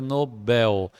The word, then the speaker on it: Nobel: mas a pronúncia correta Nobel Então ela é uma oxítona aqui não acentuado Nobel também não acentuado porque ela é uma oxítona terminada em L só as paroxítonas terminadas